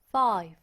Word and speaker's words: five: 숫자 똑같죠 숫자 똑같아요 5는요 발음할 때 f랑 둘 다 윗니를 아랫입술에 붙여서 가겠죠 five five 좋습니다 자 우리